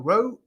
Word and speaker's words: ROWE: so everyone out there it's not pronounced rowie it's a row from now on that's good yes row